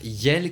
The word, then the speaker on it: iel: Le pronom personnel neutre yel, qui est donc le mélange de il et de elle et qui s'écrit IEL, a fait son entrée